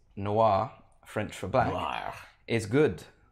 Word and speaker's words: noir: Was saying like Noah or something like that.